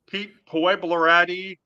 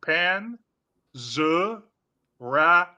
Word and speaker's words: Panzerotti: was a lot less drunk okay but it's pronounced Pete pan Panera this guy calls me Pete puati Pete panaka Pete papalois Pete St Germain Pete Papa guchi it's no